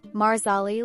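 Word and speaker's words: Marsali: pronouncing my character's name marali like parsley as Diana wanted for Steven cre who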